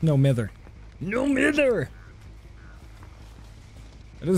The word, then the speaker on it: No Mither: It's no mither. No mither! That is how you pronounce it.